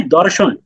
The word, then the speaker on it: দর্শন: example দেওয়ার চেষ্টা করব আপনি একটা শব্দ আছে দর্শন দর্শন মানে হচ্ছে এই যে আমি আর আপনি স্ক্রিন দেখতে পাচ্ছি এটাকে বাংলা এই প্রমিত ভাষায় বা আধুনিক ভাষায় এটাকে দর্শন বলি যে দর্শন করা দেখা জাস্ট সেম একই জিনিস শুধুমাত্র আপনি উচ্চারণ করলেন ধর্ষণ তখন এটা কতটা মানে পুরা ভিন্ন মেরিতে 360 ডিগ্রি